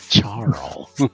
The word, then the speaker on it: Charl: pronouncing it CH yes Carl with a CH charl all right well she's